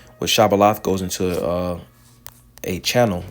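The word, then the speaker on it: Shibboleth: said they unto him say now shabal and he said Sabal for he could not frame to pronounce it right then took then they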